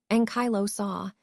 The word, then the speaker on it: ankylosaur: Now focusing on the NZ ankylosaur, pronounced ankylosaur, the name means fused lizard, which gives us a hint about its body structure.